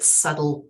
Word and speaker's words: subtle: as I Grew Older I didn't know that subtle had a silent B in it for example because I read